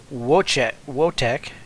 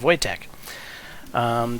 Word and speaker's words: Wojtek: So, where I explained that the J is basically a Y in English, for whatever reason I forgot that a W is basically a V. So technically it's not Wotek, it's Wojciech. So Wojtek.